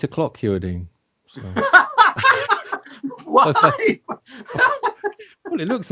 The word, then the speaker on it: Hewerdine: It's Boo Hewerdine.